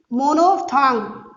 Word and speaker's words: monophthong: मोनोफ्थांग, मोनोफ्थांग इसको बोलते हैं।